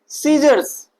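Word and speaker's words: scissors: Silent रखेंगे। ठीक? यहां पर देखिए सीजर्स।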